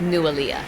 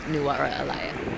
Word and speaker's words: Nuwara Eliya: Later in the day we found out the name of the town is pronounced Nuwara Eliya, not Nuwara Eliya.